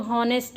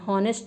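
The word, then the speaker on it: honest: जैसे इसको हम बहुत लोग गलत प्रोनाउंस कर देते हैं। क्या बोलते हैं? हॉनेस्ट मैन। ऑनेस्ट नहीं होता।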